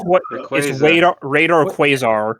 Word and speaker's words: Rayquaza: we're Rayquaza. we're a Rayquaza family. It's radar. It's Rayquaza. radar What? Quasar. We understand that it's phonetically Rayquaza, but come on, Rayquaza.